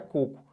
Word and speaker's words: coco: Mas não é cocô, tá? Isso aqui é coco.